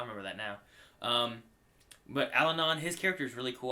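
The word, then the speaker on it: Allanon: I looked at you to see if I said it right because I've been putting the N in the wrong spot. Alan. Yeah. Alanon. Alanon. Alanon. Like Abbidon. Like Abdon. But Alanon. Yeah, that's that work.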